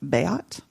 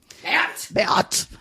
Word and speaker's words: Beat: So the name Beat, which you wouldn't think would actually be a name, but there actually is a German name that's spelled like that, but it's pronounced Beat. Beat.